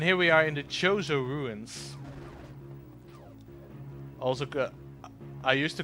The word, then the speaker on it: Chozo: And here we are in the Chozo ruins. Also, I used to call them the Kozo ruins because I didn't know how to pronounce it properly.